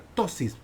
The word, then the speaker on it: ptosis: se conoce como una ptosis, que se escribe con P, P-T-O-S, ptosis.